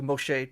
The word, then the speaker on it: Moshe: the mastic text uh it is the basic also way of how like a modern Israeli uh or Jewish person would pronounce the name something at least close to Moshe with you know different